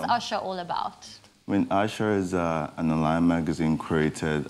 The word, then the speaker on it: ASA: asa is all about are we saying it right is it is it our is it asa asha what is usher all about i mean usher is an online magazine